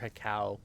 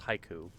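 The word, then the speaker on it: Hikou: This one's unique because it needs not only the miter, but also the haiku or hika. I've heard some people pronounce it that way, but that's haiku.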